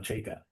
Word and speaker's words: Chayka: why I'm saying you better learn how to pronounce his name, because you're at worst you're gonna be saying F and John Chayka. So like so the Leaf fandom went from the pit of despair with this Chikra guy to a few hours later.